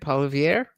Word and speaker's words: Poilievre: Is that how you say it, Poilievre?